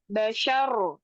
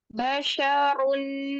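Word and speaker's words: بشر: baris pertama ini bacanya Basyar Ahad Asir Mar dahahab kutub nah dia kalau waakaf tanwinnya hilang diganti menjadi sukun namun kalau was tanwinya tetap dibaca basyarun Ahad contoh diwasulkan basyarun Ahad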